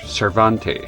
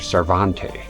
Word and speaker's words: Cervantes: No, that that much was clear, but the way the guy pronounces his last name here be as if he's speaking French. Cervante. I you know that's the impression I get here. Those are very important matters. I've been saying Cervantes.